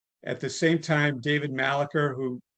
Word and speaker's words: Malarcher: At the same time, David Malacher, who some people pronounce his name Malarche or Malarcher. Back in 1978, I had no idea how his name was pronounced, so I always just called him Malacher because phonetically that kind of looks, in terms of how it's spelled, that's kind of how it looks to me.